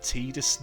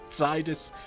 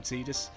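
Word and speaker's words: Tidus: So I am here controlling I believe it's pronounced Tedus not Titus as I was convinced and I'm sure many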